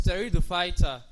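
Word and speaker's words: Pteridophyta: Now having mentioned that we advance to this teridopighter this P is not pronounced while pronouncing the word is territoid fighter.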